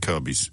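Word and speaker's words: Kirkby: quite a lot of Kirby's in North Yorkshire it could be more signed out there's loads and that that's another odd one kirk by you could pronounce it as and yet kirby you do Beechum it's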